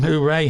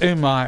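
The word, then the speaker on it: Unai: I used to call him Hooray Emery for some reason, but it's Umar Emery.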